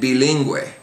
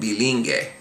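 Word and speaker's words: bilingüe: So in the example we have here, we have the two examples, pinguino and bilingue. Okay, those would otherwise be pronounced pinguino and bilingue, but because of the umlaut or the diaeresis, you pronounce that U.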